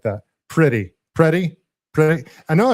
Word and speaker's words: Pretti: It's pronounced pretty.